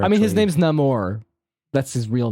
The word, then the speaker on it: Namor: I mean, his actually- name's Namor.